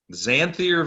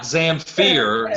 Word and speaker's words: Xanthir: Xanthir Vang, yeah. As in Master of the Pan Flute? No, not Zamfir, Xanthir.